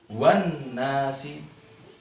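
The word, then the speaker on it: والناس: Adik-adik bisa lihat di situ ada alif lam. Ya, setelah alif lam ada huruf nun. Nah, kita tahu bahwa nun adalah huruf samsiah. Maka cara membacanya harus lebur atau tidak terbaca. Seperti ini. Wan nasi. Wan nasi. Alif lamnya ada tetapi tidak terbaca.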